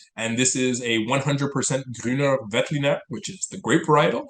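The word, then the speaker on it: Grüner Veltliner: I just want to say that I'm going to correct your pronunciation because I actually speak German. It's Please do. Grüner, Vetliner, Loimer, Lois.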